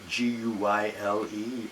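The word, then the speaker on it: Guyle: a man named Guy, G-U-Y-L-E spelled, so I don't want to pronounce it wrong, but I believe it's basically Guy in American or English, and he's Hungarian, and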